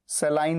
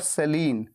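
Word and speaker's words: saline: इसे सलाइन और सेलीन दो तरीके से बोला जाता है, सेलाइन या सलीन। सेलाइन होती है यूके प्रोनाउंसिएशन, ब्रिटिश प्रोनाउंसिएशन, और सेलीन होती है यूएस प्रोनाउंसिएशन।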